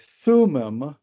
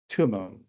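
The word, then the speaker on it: Thummim: have the letter or the word I'm sorry Thum is how most people say it when they're talking about the irum and the thum um but it's actually pronounced tumon um and it means Perfections of course irum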